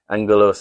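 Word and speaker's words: ἄγγελος: Angalos is spelled with a double G. So, you pronounce it angalos.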